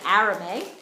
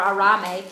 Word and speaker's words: arame: talk to you about is arame or arame people pronounce it differently so let me get